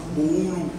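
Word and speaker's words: Boolou: Comment vous prononcez ça? Boulou.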